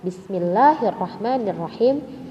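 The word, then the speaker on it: بسم الله الرحمن الرحيم: good next bismillahnya Bismillahirrohmanirrohim Nah ada beberapa bahkan lumayan banyak Diantara Kalian membacanya itu Bismillahirrohmanirrohim nah ini adalah penyakit yang harus dihilangkan karena disini juga ada tasydid sehingga kita tidak boleh membacanya dipanjangkan seperti itu ya Jadi kita baca bersama-sama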